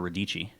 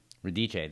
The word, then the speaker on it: Radice: is radice um if i ask siri she thinks you're radicci radice that's how you say my name oh italian yeah oh yeah she